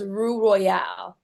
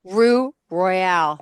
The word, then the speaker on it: Roux Royale: messed it up twice it's okay so it's Rue Royale Rue Royale thank you so much it's spelled r o u x r o y